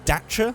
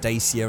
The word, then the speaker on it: Dacia: sort of preface this I'm going to say Dacia and probably also mix it with dater which I know is the correct way to say it but it's because James May always said daier and it's sort of got engrained in my memory that that's how he's supposed to say it so yes I I'm